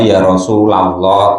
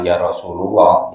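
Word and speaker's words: يا رسول الله: mudof dia dua kata Ya Rasulallah baru dibaca nasab Kalau yang ini dibaca Rafa itu ya kalau bis yang iceknya tuh ktib-khatib imam-imam tuh y bacanya Ya Rasulallah Gitu Jangan Ya Rasulullah Ya se-nya begitu nampak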